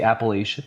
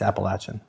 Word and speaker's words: Appalachian: Some people say Appalachian mountains, but it's Appalachin.